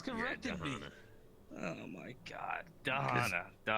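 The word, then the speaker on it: Da'Hanna: also on your pronunciation it's the D with a D not tahana with a t no one's corrected me oh my God danana danana I'm not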